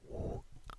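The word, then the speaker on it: 五: 5, 5, which is woo, woo, woo. the sound woo, woo, woo, but it's a bit more round in the mouth. So woo, woo. And you spell it W-U.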